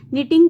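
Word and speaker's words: knee: घुटनों को ठीक है निटिंग कहते हैं बुनना रैप होता है लपेटना नी घुटनों को कहते हैं नी में एन का साउंड आ रहा है के का नहीं आएगा तो दिस इज अ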